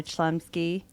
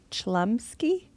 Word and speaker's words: Chlumsky: The assistant kind of she's half assistant, half nanny, played by Anna Chumsky. Is that how you say her name? Chlumsky.